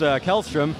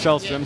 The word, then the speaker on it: Kjellström: I'd like to apologize I kept hearing your name pronounced kelstrom but I guess the correct Swedish pronunciation is shellstrom so yeah it's in